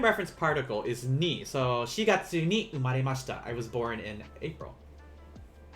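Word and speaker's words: 四月: can only use one you can't use yon because uh it's only going to be shigatsu you can't say yon gatsu even though most japanese people would understand uh the correct way would be to say shigatsu and that's that's the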